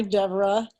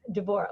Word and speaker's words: Devorah: Hi, Deborah. So, wait, hang on, Devorah. Correct. I've been instructing Isabel on my name, Devorah, which is the Hebrew pronunciation, which is why it's not the natural pronunciation for Westerners.